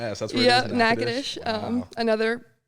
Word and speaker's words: Natchitoches: That's where it is, Natchitoches. Wow. Another mispronounced, like, city. There's no way I could ever spell that, and I've lived here for 15 years. Yeah, everyone's like Natchez, Toches, Natchez, whatever.